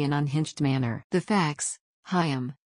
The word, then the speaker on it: Chaim: unhinged manner the facts hiam pronounced KH I M Weiss was a 15